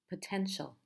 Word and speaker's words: potential: the tential three syllables which one is the stress the first syllable the second or the third potential it's the middle syllable potential potential how about